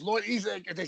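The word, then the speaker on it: Ezec: Ezek, there you go.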